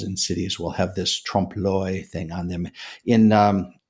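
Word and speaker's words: trompe l'oeil: Often times murals in cities will have this Trumpoy thing on them. In um it's spelled T R O M P E L L apostrophe o e i l.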